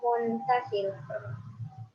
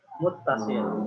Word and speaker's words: muttasil: Mad wajib muntasil. Hah? Mad wajib mustafil. Dah apa ya? Nanti betul kan jalur. Nah, ya. Muttasil.